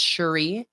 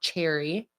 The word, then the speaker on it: Cherie: I'm getting it uh Cherie is pronounced Cherie not cherry um my mom's name